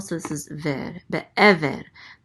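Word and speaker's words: בְּעֵבֶר: Be'ever. The accent mark is on this syllable, so it's be'ever. Be'ever.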